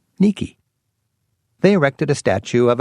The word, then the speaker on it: Nike: At this temple, she was worshipped for bringing the Athenians victory, that is, Nike, or as Greeks pronounce it, Nike.